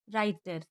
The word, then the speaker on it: writer: इसका rule number दूसरा है, जब डब्लू के बाद आर आए तो डब्लू साइलेंट होता है। WRAP रैप, WRITER राइटर, CWO टू, WHOLE whole.